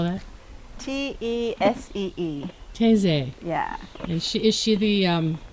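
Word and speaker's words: Tesee: How do you spell that? T-E-S-E-E. Teze.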